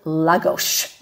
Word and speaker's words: Lagos: Another place we're going to talk about is Lagos, and that's the way it's pronounced.